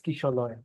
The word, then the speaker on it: Kishalay: the actual pronunciation, the correct pronunciation is Kishalay. The A's are pronounced, yes, the A's are pronounced as O's.